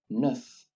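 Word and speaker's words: neuf: we once again again when an e is followed by a u we only keep the e which is pronounced uh in french language and so we have nuf dis once again this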